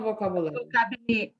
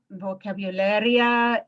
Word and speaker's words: vocabulario: So, primero el vocabulario. Vocabularia. Wait. I'm gonna back you up. We're still working on pronunciation here.